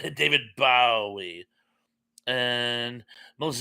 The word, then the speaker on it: Bowie: And Tuck says, "My mother-in-law insisted on pronouncing his name like Bowie knife. Drove me insane. I like how they present the young ones. Bowie, David Bowie."